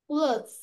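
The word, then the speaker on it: clothes: ক্লথস। Worm ক্লোথস। Worm ক্লথস। ক্লোথস এসটা উচ্চারণ হবে ক্লোথ ক্লোথস এরকম করে বলবো।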